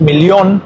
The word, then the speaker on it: Million: En español es millón y en alemán es millión, y la doble L suena como L, millón.